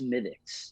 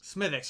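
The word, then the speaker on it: Smithwick's: don't think it's like a douche canoe it's pronounced smithics smithics yes you're right you're right yeah i know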